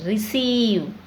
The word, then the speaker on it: receive: e before i okay so c is followed by e so we pronounce as e sound receive ceiling conceive deceive we have the longi sound here okay and thief achieve